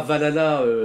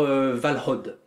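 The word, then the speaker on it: Valhǫll: Alors déjà, ça se prononce pas Valhalla, Valhalla la Schrumpflala, hein, ni Valhalla, du coup, qui serait plutôt la version germanique, mais c'est plutôt un truc du genre Valhod.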